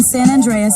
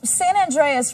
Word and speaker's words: San Andreas: Ooh, San Andreas rhymes with Dr. Zaius.